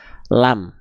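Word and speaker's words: ل: Ya, saya izin tulis namanya adalah huruf lam. Jadi, ketika dia belum punya harakat, jangan teman-teman bilang ini adalah huruf la. Tidak ada huruf hijaiyah yang namanya huruf la. Ini namanya adalah huruf lam.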